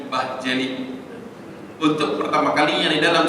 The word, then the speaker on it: Bahçeli: Kemudian di sebelah kanan itu adalah dari partai sekuler yang lain, MHP, Devlet, V itu seperti wow, jadi Devlet bacanya, ya, Bahçeli, bukan Bahçeli, Bahçeli.